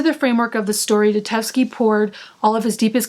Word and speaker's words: Dostoevsky: I know I like butchered his name. I know it's Dostoevsky, but I don't know how to say his first name.